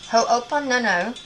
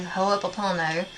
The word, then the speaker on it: Ho'oponopono: So practice Ho'oponopono, you know, the Hawaiian thing. I can never say it correctly. Ho'oponopono.